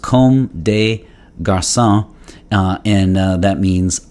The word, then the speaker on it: Comme des Garçons: uh often referred to as cdg it is pronounced com de garcia and that means like boys in french but